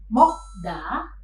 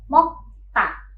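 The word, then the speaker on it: 먹다: Maka, pelafalan kata ini bukan mokda, melainkan mokta.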